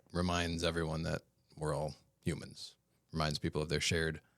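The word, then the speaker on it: Humon: with each state of what's now called the human that's spelled h u m o n color Hue so that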